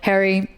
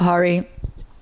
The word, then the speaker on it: Harry: It's become awkward for me to correct people, but it is Harry, Harry. I would say it like the male first name, Harry, and that pronunciation is pretty much it, if not very close. So Harry, not Hari.